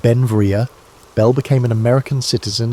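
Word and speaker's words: Beinn Bhreagh: Pronounced Ben Vria, Bell became an American citizen in 1882, but his name, meaning beautiful mountain in Scottish Gaelic, showed his Scottish heritage.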